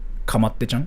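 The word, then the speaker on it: かまってちゃん: So, yeah, in Japanese, attention whore in Japanese is like kamatte-chan. Like, that's how you say it. I'm gonna spell it here too.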